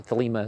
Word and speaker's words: Thelema: From the 22nd, we have, like the sacramental, the Eucharistic feast, particularly in Thelema, or Thelema as they usually pronounce it.